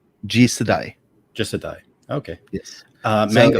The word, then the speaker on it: Jisedai: with the pronunciation. G Jisedai? Jisedai.